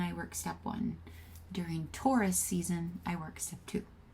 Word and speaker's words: Taurus: I do captions um closed captioning likes to spell it t-o-u-r ist I am saying Taurus t-a-u-r-u-s also a Ford vehicle